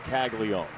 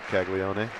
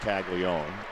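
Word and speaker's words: Caglianone: It is Kaggle Leone. Not Kagleone. Yeah, it's it feels like there's an extra N, but it's actually pronounced Kagleion.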